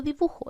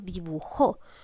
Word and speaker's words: dibujó: Ojo, no estoy diciendo dibujo, estoy diciendo dibujó. Por lo tanto, identifico que estoy cargando la voz en la sílaba jo, que corresponde a la última sílaba.